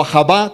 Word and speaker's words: Ahava: Esto es un río, Ahava, ¿okay? O Ahava con acento en la A, es un río.